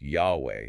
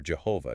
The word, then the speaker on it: YHWH: So in traditional theology, the name of the God of the Hebrew Bible is YHWH, often pronounced Yahweh or Jehovah, depending on the tradition.